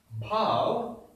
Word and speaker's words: bhav: Bhav is brothers. See, it is bha, it is bha. Okay, it has to be heavy and a bit harsh. Bha, bhav.